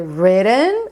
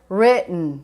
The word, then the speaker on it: written: Então você pode dizer written or written. Você não fala o E.